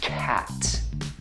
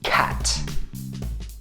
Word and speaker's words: cat: Instead of saying {\i1}“cat”{\i0} try to say: CAT Got it? CAT It's simple isn't it?